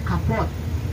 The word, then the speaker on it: kapot: K-A-P-O-O-T, kaput. Harusnya bahasa Belandanya kapot. Karena kalau Belanda itu konsisten, double otek, oh bacanya.